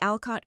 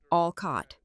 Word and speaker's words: Alcott: For example, when dealing with the Alcott Crest account, we need to eliminate localized variables. She pronounced it Alcott, emphasizing the wrong syllable. It was Alcott, like the author.